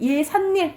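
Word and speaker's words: 예삿일: 발음이 어떻게 돼? 예산일 니은이 덧나죠. 그러니까 이거는 한자어 플러스 순 우리말인데 니은 소리가 덧나는 거.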